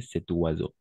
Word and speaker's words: cet oiseau: Avec la liaison, tu l'as bien prononcé, cet oiseau.